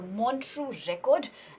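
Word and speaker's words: Montreux Record: talks about something that's called monu record it's pronounced as the monu record and it is basically an index it is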